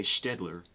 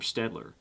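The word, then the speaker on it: Staedtler: In fact, that is a German name, and I may well be mispronouncing it, but I say Stedler, and they've been manufacturing in Germany since I think the 18th century.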